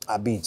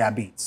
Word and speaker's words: apizza: what a pizza is a beach all right so a-p-i-z-z-a uh beats so think of the word or the phrase red beats and then you could say I beats that's how it's pronounced